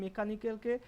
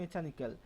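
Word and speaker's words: mechanical: আবারও বললাম ড্রিল মানে কি, কোনো জিনিসকে বারবার, ধরো এই মেকানিক্যালকে কেউ উচ্চারণ করছে মেচানিক্যাল, মেচানিক্যাল এরকম উচ্চারণ করছে মেচানিক্যাল, তো তাকে বারবার মেকানিক্যাল মেকানিক্যাল বলানো হচ্ছে যাতে তার উচ্চারণটা মেচানিক্যাল থেকে মেকানিক্যাল হয়, ঠিক আছে।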